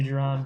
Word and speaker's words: Jiron: saying the right to jiron but welcome if you're there i am here i was getting settled yeah it's pronounced like geronimo yeah you got it awesome hey i like